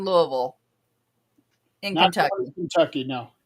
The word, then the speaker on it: Louisville: No, they do not pronounce the S on Louisville.